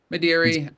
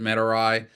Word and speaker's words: Madeira: yeah, Madeira. I some people pronounce it Medarai. I had a Okay. Latin scholar say it's Medarai and not Madeira.